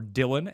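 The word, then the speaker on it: Dillon: philip lindsay jd mckissick aj dailon or dylan as others say his name james gonna david johnson and then james white at number 40.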